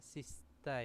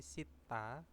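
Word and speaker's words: 씻다: terus ada Sitta nah ini bacanya bukan ee Sista ya tapi Sitta Sita yaitu bisa membasuh muka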